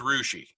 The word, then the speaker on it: Russia: Here in Ohio, it's Rushi.